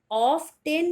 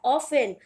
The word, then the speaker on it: often: Next word is OFTEN, ऑफ टेन नहीं बोलोगे, ये होता है ऑफन, ऑफन जिसे आप हिंदी में बोलते हो प्राय।